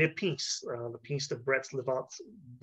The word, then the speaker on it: Brest-Litovsk: When the communists took over, they made a peace, the Peace of Brest-Litovsk, pronounced this, in 1918, and withdrew from the war.